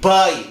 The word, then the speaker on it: buy: Lah ini namanya diftong. Diftong itu ai, oi, ie, ue. Ei, lah itu, ya. Ini buy, membeli.